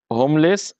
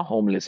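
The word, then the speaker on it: homeless: উচ্চারণ আসছে না কিন্তু এখানে তো এইচ এর উচ্চারণই আসছে হোম তাই না তাহলে এন হবে না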